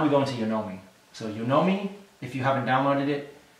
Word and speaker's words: Yonomi: So Yonomi, if you haven't downloaded it, it's spelled Y-O-N-O-M-I.